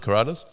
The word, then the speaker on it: Karaliazus: So it's pronounced Karaliazus. And it should be pronounced like that because in Portuguese, where a lot of my friends, my Brazilian friends are from, if you pronounce it as Karalios, it's like a very bad word.